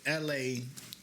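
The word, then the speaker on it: Elhae: His name L.A. though, but it ain't L.A. It's spelled out. It's probably L.A. Reid type shit, but in different. Nah, it's spelled out. E-L-H-A-E. L-A.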